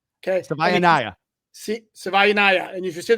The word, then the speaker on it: Savaiinaia: Like Hawaii, but Savaiinaia.